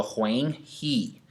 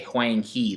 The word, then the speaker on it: Huang He: Okay, this is not pronounced he. This is pronounced he in English, but it's not that in Chinese, guys.